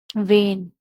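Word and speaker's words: vein: हैं फिर सेकंड है जब ई आई का साउंड ए करता है जैसे कि वेग नेबर इसमें ई आई का साउंड क्या आ रहा है ए वेग ए नेबर ए वेन ए तो ऐसी कंडीशन में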